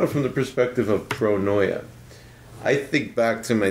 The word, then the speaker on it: pronoia: word you can Google it and it's uh pronounced pronoia and it's the opposite of paranoid and it's